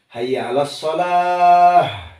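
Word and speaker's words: حي على الصلاة: Pakai H besar. karena tamar butuh itu kalau dimatiin jadi H. Kemudian hayya 'alal falah pakai H kecil. Terus kalau tidak salah itu pengucapan H besar itu bima yalifis sodr. Jadi dada itu harus bergetar. Nah itu kan keluar H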